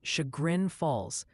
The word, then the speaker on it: Chagrin Falls: Multiple viewers are insisting Chagrin Falls is pronounced Chagrin Falls, just passing along the intel before they send you back to the ding-dong house.